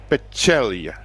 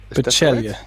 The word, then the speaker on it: Pecelj: So it is Alexa Pecelj. Pecelj. Pecelj. Yeah, or at least that's what they in general have told me.